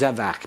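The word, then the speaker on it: זֶבַח: What does zevach mean? I thought I heard someone start to say it. Sacrifice. Sacrifice. Notice the accent on the first syllable.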